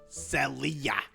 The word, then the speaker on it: Selia: It's pronounced Selia, but people call me Selia cuz you know I'll sell you some bull. You know what I'm saying?